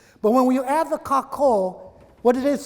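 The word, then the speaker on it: kākou: It's kako. Now, it's spelled differently in Hawaiian, but it's pronounced like ka, like a raven or a bird, ka, and ko, like co-worker or co-ed or co-opted.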